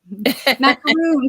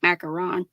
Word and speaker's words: macaron: They're saying, ooh, teal, French cookie, macaroon, French cookie. Macaroon. Yes. It looks like macaron. Macaron is correct. Yep, that's the correct.